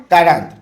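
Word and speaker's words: quarante: तंत बोलते हैं और 40 को उच्चारण में क्या बोलते हैं कांत ठीक है और इससे क्या होगा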